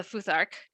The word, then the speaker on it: futhark: icelandic book of the futhark i think that's how that's pronounced because the p is a th the p looking symbol